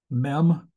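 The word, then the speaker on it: מ: is the l sound meem is the m sound and it also has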